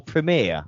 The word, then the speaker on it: premiere: Premiere or premiere? I've never really noticed it. It's premiere.